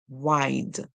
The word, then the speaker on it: wide: word and this one the e at the N is silent we hear the I make a long I sound that's why it's called